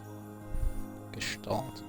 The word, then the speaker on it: Gestalt: Gestalt. Okay, I was right then. You don't really Gestalt. It's kind of like a SH sound. I mean, it's German, so it makes sense.